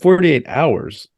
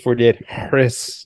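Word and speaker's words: 48 Hrs.: 48 hers 48 hours it's not called 48 Hours HRS period and Wikipedia is very clear to set out that that is pronounced 48 hours that it is in fact 48 Hours not four years yes it's not pronounced 48 Harris or or something I don't know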